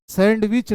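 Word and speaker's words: sandwich: understand understand जिस प्रकार इसमें डी का उच्चारण नहीं करते हैं इसको नहीं करते हैं हैंडसम होता है जब भी हम लोग खाते हैं तो सैंडविच होता है सैंडविच नहीं होता है ये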